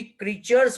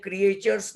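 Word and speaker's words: creatures: इसको भी क्रीचर्स बोलते हैं, क्रिएचर्स नहीं बोलते. Mind well, क्रीचर्स.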